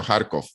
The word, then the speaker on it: Kharkov: que es, bueno, en función de cómo lo pronunciamos en ruso, en ucraniano, Kharkov, que es la segunda principal ciudad del país.